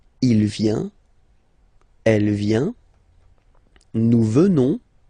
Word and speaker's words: venons: Final S not pronounced. So, you will get the sound venons.